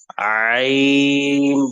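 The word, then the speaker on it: عين: হা গলা চাপ দিয়ে, সেখান থেকে হবে আইন। গলার কণ্ঠন এটা, ভোগালটা একটু ভেতরের দিকে চেপে যাবে, এরকম আওয়াজ হবে, এই ধরনের আওয়াজ হবে আইন। আইন আইন না বলে গলা চাপ দিতে হবে, আইন।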